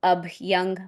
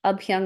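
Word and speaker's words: abhyanga: self-care ritual I would recommend is one called ABY young massage ABY young is spelled a b h y a n g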